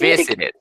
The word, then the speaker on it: visited: Visited. Visited. ¿Listo? ¿Por qué? Porque termina con T.